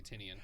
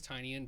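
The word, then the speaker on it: Tynion: we talk about James I always say it wrong tinan I always want to say tinian I think it's tinan I heard I've heard other the people at Scots Collectibles call it tinan so I just it is tinan but that because I said it wrong for so long it it that sounds incorrect I think tenian sounds better too does yeah the why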